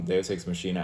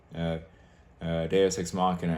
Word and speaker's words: Deus Ex Machina: So anyway, Deus Ex Machina out. Actually, correction. Bad pronunciation. Deus Ex Machina out.